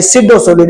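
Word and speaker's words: pseudo solid: यानी अतिशीति द्रव को बोलते हैं सुपर कूल्ड लिक्विड और इसे आभासी ठोस यानी सिडो सॉलिड। इसको क्या पढ़ेंगे भैया? इसको सिडोसोलिड पढ़ा जाता है। पी साइलेंट होता है।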